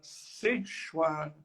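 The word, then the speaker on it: सेश्वर: Samkhya numa versão chamada Seshwara Samkhya. E Ishwara pode-se traduzir como Senhor. E Sa significa com. Quando você junta Sa mais Ishwara, dá ali uma contração e você pronuncia Seshwara.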